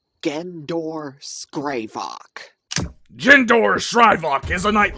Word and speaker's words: Gendor Skraivok: Gendor Skraivok. I repeat, it is pronounced Gendor Skraivok.